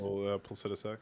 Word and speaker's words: Placidusax: Placidusax, yeah. How do you say that? Placidusax? Placidusax?